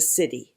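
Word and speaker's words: siddhi: particular key or line which is called the city it's spelled s-i-d-d-h-i and that is what we're striving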